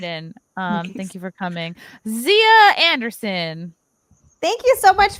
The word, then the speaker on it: Xia: If you guys want to follow me on Twitter and Instagram, it's at. It's spelled XIA_LAND. On Twitch as well, Zia XIALAND.